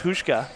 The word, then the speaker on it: Hushka: And out goes Hushka. Rhymes with babushka.